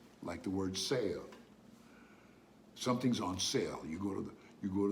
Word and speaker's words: sale: word in spanish saline s-a-l-e is pronounced sale why does it sound that way because simply because the a s-a-l-e the a is pronounced ah so you've got side and then the last e which is not pronounced in english is pronounced in spanish always pronounced in spanish so the last e